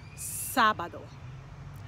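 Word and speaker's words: sábado: accent on the a it tells us that that's the syllable we're going to emphasize so we say sabado what about this word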